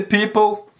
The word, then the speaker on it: people: do inglês é The People Por que que tem um vermelho aqui maleta em vermelho e Fernando por enquanto Adiciona uma vez em vermelho essa letra não é pronunciada se não pronuncia people ep people people Ok